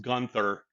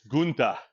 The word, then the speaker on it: Gunther: Gunther. Trying to explain to Joel why his name is not pronounced Gunther and it's Gunther. Because German, right?